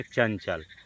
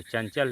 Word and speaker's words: चंचल: अब आगे हम लोग देखेंगे चंचल। जो चंचल है उच्चारण में च वर्ग का पांचवा अक्षर ञ छिपा हुआ है। तो चंचल, चंचल, अनुस्वार लगा देते हैं। यानी ञ को अनुस्वार के रूप में बदल गया है।